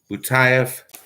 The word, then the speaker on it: Butaev: Butaev is pronounced. Butaev.